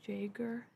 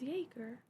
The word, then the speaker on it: Jaeger: I'm assuming that other people probably like just pronounce it phonetically, which would be what fucking Jaeger, something like that. Ew, that feels wrong. That feels weird. It's Jaeger.